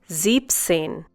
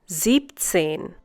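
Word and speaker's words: siebzehn: used without s this is to make the pronunciation easier also the next number is slightly exceptional zips in instead of Sieben scene you say zips in once again zipped scene in this case you remove the e n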